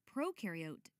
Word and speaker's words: prokaryote: Prokaryote, the pro rhymes with no, and they have no nucleus, which holds the genetic material and controls a cell's activities.